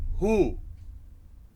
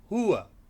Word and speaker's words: huwa: If you're residing in the UAE or Qatar or Bahrain, people in these countries, they say who. Alright? If you're residing in Saudi, people there, they say huwa. And some of the neighboring countries over that side, they say huwa.